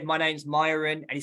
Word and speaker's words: Mayuran: And he said, it's not Mayuran, because actually my name, everyone calls me Mayuran, right? But this is a kind of English way of pronouncing my name, Mayuran, right? But it's actually Mayuran, right?